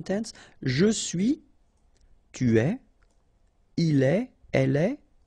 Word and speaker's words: il est: Il est, exactly the same sound as we had previously, okay, so just remember that you write it like that, but then phonetically it goes like est, elle est.